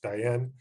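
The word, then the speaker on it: Tayal: studying the diane of people it's spelled t-a-y-a-l pronounced diane but i don't speak the diane language pretty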